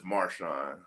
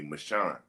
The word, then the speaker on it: Marshon: It's uh my So, my name is Marshon, but my my my dad's family is from the south. And my my Hey, my grandma Desi, she don't she don't pronounce uh S's. So, she would always call me Michan. And so when she would call me that, people started catch hearing on it and thought it was spelled M A C H A U N.